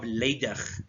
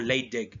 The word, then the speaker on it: Leydig: Now, in between the seminiferous tubules are the cells of Leydig, okay, or Leydig, depending how you feel like pronouncing it.